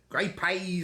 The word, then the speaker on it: grey peas: great pays gray PS that's how to talk great pays gray pays and bacon gr p on bacon yeah it's